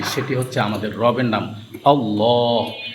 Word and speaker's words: আল্লাহ: এই লামের ডান পাশে যদি জবর অথবা পেশ হয় তাহলে আল্লাহ শব্দের লামের উচ্চারণটা মোটা হয়।